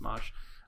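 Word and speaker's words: Mache: channel uh mosh customs m-a c-h-e yeah yeah pronounced mosh um so he did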